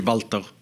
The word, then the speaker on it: Walter: Strictly speaking, it's Walter. The German pronunciation would be Walter. Okay. Yeah. But I think we said Walter. Most people say Walter.